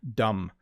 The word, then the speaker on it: dumb: So you don't really say the B, but it's kind of there a little bit, right? Dumb. You don't say the B sound, dumb. Okay, maybe you don't say the B at all, dumb. Yeah, don't say the B there. Sorry, I don't want to give you bad advice. You're better off just saying dumb, just D-U-M, dumb.